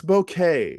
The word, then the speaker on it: bokeh: You've got bokeh. I'm learning the language of photography. You got bokeh. Rock. Let's pronounce it correctly. It's bouquet. It's bouquet.